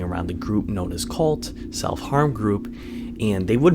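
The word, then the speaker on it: CVLT: So this group started with a 15-year-old boy who is hanging around a group known as Cult. So it's spelled C-V-L-T, and they are a hate group, basically like 764.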